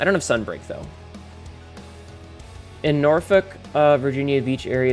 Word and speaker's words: Norfolk: the back, it says, it's pronounced Norfolk. No one says Norfolk. It's Norfolk.